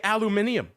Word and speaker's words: aluminium: We're going out to, as the Brits say, aluminium.